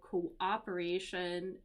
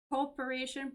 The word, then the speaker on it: cooperation: an milestone for international cooperation and I just want to point out here there's two syllables here so it's not cooporation but Co operation so cooperation with major